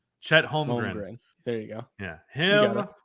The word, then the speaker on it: Holmgren: Yes, I believe Chet Holmgren. Gren. That's how you say it. Holmgren. Chet Holmgren.